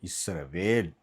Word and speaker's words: இஸ்ரவேல்: இனி நம்ம உச்சரிக்கும் பொழுது இஸ்ரவேல் அடுத்த ஒரு காரியங்களை நம்ம திரும்ப பார்ப்போம்.